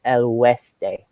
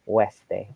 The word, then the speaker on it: oeste: This is actually west, and you pronounce it el oeste. El oeste, because in Spanish they don't use the W, so this kind of makes the W sound, oeste.